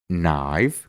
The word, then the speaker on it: knife: después tiene una N, solo vamos a pronunciar la N y no vamos a pronunciar la K. Por ejemplo, know, que significa saber, knee, que significa rodilla, knife, que significa cuchillo, knight,